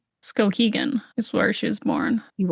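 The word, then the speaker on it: Skowhegan: Scoaggan is where she was born. You are right. I was going to say Scogan.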